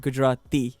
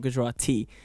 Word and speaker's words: Gujarati: he's speaking Hindi or Gujarati see I said Gujarati because it's not good roti and I think it's